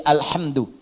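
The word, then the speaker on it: الحمدُ: Bacaan di qira'ah sab'ah semua para pembacanya itu mendhammahkan huruf dal di alhamdu.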